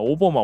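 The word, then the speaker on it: Obama: 원래 발음 은 " 오버마 " 입니다 . 오버마 , 오버마 라고 부르는 게 맞습니다 .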